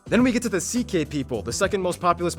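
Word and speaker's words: Székely: all went down then we get to the ck people the second most populous minority yes that's how you pronounce it ck basically cousins of the hungarians these people are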